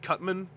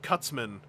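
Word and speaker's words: Cut Man: toys megaan and I'm I've been training myself to use the Captain N pronunciation of megaan and cutman I think in Captain N he was called cutsman and I got to resist I looked at the package there was no s so I have to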